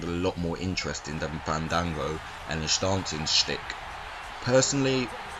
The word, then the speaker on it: Fandango: championship chris jericho versus fandango i think it's pronounced that you have to let the a's breathe apparently chris jericho and dolph